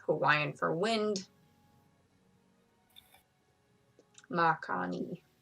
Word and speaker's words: Makani: Makani. Pretty sure that's how you say it, because Hawaiian you pronounce every letter, like ma, Yeah. ni, Hawaii, yeah, Makani.